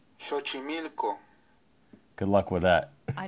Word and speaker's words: Xochimilco: Here's the pronunciation. Xochimilco.